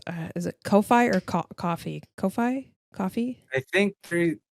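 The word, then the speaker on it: Ko-fi: three it's pronounced uh Kofi okay Kofi yeah because they they have a they have a tweet somewhere that's like uh Kofi rhymes with no fee um how you remember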